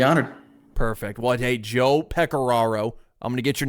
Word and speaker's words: Pecoraro: I think I called him Joe Pecorico, and I regret it dearly. So, Joe, if you're listening, I'm sorry. It is Pecoraro. That's how you say it.